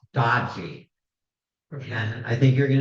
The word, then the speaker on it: DOGE: And I'd like to point out that's DOGE, which we could pronounce dodgy.